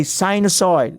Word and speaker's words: sinusoid: reading the vast literature in circular function a sinusoid that is how you pronounce it so a sinusoid is a sine